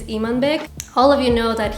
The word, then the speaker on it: Imanbek: know that i'm unbek i'm gonna just call him i'm in big because a lot of you don't know the kazakh way of pronouncing that name which is imanbig all of you know